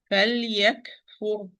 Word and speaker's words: فليكفر: فليكفر, here I have lam with سكون in between letter, kaf with سكون, okay? So and when I pronounce the lam, it's in between letter, give it its time. فليكفر, okay?